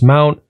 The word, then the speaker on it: mnt: making a directory in the slash mnt directory pronounce mount we have the plex